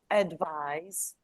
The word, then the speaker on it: advise: exactly nice well done word stress advise where is the stress on I from I I is a strong syllable and it gives you the z sound advise is the strong syllable and then you go devise is a strong syllable it's stressed and that's why you underline kind of you single out this s into Z and you can hear it advise devise but practice where is